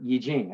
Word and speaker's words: Yijing: relief for purification and in the iching or yijing as it's pronounced achilles use the uh use the yarrow